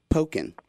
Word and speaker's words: Pokkén: this game for me how do you spell it P o k k n like poken Pok Pok so in like teken except poking okay I got it